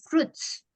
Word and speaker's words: fruits: Bacanya fruits ya, bukan fruit. Fruits. Sorry, U-nya Miss. itu ya, U-nya itu nggak dibaca ya, jadi fruits.